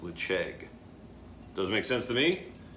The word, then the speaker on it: Ledaig: So it looks like Ledaig, but I Googled it and I believe it's pronounced Ledaig.